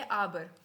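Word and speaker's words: aber: हम ए नहीं बोलते ए को हम क्या बोलते हैं आ बोलते हैं सो क्या है ये आबर ठीक है और आबर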